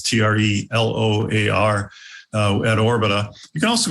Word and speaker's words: Treloar: You can connect to me personally on LinkedIn, just Treloar, as you spelled or pronounced it, it's Treloar at Orbita.